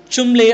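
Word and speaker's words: Cholmondeley: very prestigious award called chimlay award what is written and how it is pronounced is different it is called a chimlay award which is normally given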